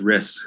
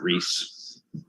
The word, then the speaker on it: Riss: Yeah, it's Riss, not Reese.